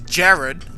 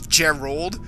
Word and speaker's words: Jared: And I always used to say his name wrong because his name is Jared, like, you know, the one Rex just described. But I thought it was pronounced as Gerald, so with the L.